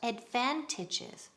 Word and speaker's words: advantage: What are the advantages? Repeat, advantages. En singular, advantage. Ok, segunda sílaba, énfasis.